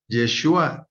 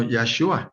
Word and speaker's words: Yahshua: No pronuncias Yeshua, sino Yahshua. O sea, es otra vocal y me decía él, entonces no puedes pronunciar Jehová, sino Yahweh.